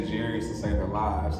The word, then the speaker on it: Jarius: I always say like Darius Rucker. That's the only black country singer that they know. Like Darius Rucker with a J. They're like, oh, Jarius.